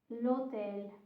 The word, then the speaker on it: l'hotel: with an H, because in Italian you don't pronounce the H. The H is silent. So for example, l'hotel and l'hotel.